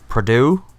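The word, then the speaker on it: Pradeaux: Yeah, so this came from director Maurizio Perdue, I believe is how it's pronounced. From the Perdue family. Not that Purdue family.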